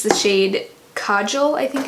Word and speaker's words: kajal: this matte black color check the pronunciation yeah I was right it is Kajal and that means coal